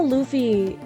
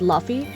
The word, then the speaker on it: Luffy: I thought Luffy's name was pronounced Luffy. So I always pronounced it Luffy until I started watching, and then it's like, oh, it's Luffy. Like a loofah.